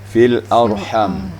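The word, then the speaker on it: في الأرحام: Kemudian fil arham. Ini huruf ha tadi. Cara membacanya, dibuka mulut kita, diangkat juga anak lidah kita, ha, dipelongkan. Dia kalau pelong berarti tanpa embel-embel dia baca. Ha, fil arham.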